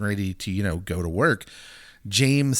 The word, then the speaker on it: James: Jame or Jamie. We're good with either or. It's spelled James, so I'm going to call him Jame.